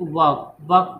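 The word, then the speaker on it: walk: जैसे कि वॉक को आप लोग क्या बोलेगा? वर्ब। कुछ बुतरू इसको, हम जब बच्चा थे ना तो इसको वाल को पढ़ते थे, WL के, वाल के, L साइलेंट रहता है, तो ये वर्ब है।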